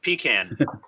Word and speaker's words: pecan: pecan or pop can it's pecan it's it's it's like peeing in a can open up a can